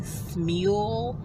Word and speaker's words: Smule: But I also have a review on the Smule app. I'm assuming that's how it's pronounced, S-M-U-L-E.